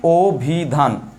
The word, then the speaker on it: অভিধান: যাবেন, তাহলে হবে কি, অ এর পরে রস্যই থাকলে উচ্চারণটা ও হয়ে যায়, আমি ও দিয়ে দিলাম।